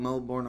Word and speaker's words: Melbourne: it was told to them in Australia like Melbourne in my mind I was born in place